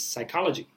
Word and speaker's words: psychology: We don't pronounce in English the P, although there is a P.